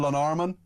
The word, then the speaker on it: Llanarmon: Did I pronounce that correctly, Jonathan? Llanarmon? Brilliant, absolutely spot on. Really, really well done.